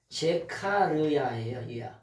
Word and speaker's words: 스가랴: 그러자 스가랴 스가랴 그러잖아 스가랴 근데 원래 발음은 뭐냐 제카르야 스가랴 하면은 그냥 우리가